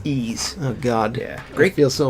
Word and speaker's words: Ys: and warriors and Yi's YZ YZ is it pronounced ezel I always say Yi's say it's ease oh god great feel so embarrassed right series